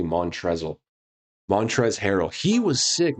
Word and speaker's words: Montrezl: And Montrezl, which is, if you look at his name, how it's spelled, it looks like it's actually Montrezl.